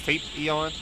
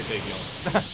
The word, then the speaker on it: Tapion: I pronounce this Tape Eon. Tape Eon. Yeah, I'll just say Tapion. It's kind of over.